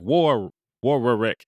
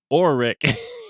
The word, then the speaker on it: Warwick: davis oh okay and they're like war war wreck he's like no forget the w and then they say oreck it's not the first w the middle one it's